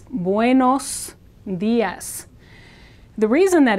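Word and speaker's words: buenos días: this is an O Spanish o is always o and never turns into an a sound so you don't want to say buus Das as many people do it's buos Das the reason that it's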